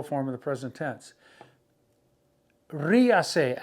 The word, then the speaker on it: ríase: Ríase, accent on the I, R-I-A-S-E. Ríase, laugh.